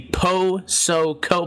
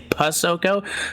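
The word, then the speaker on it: Posoko: I'll tell you what, it's interesting because if I tell you how to say my last name, I'll say Po-So-Ko, but I don't say it like that. I kind of cheat on my own and I just say Pusoko.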